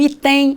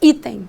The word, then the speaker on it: item: tônicas não é verdade eu ponho força na primeira sílaba item eu não digo que vou marcar o item Ah eu digo item Então ela é uma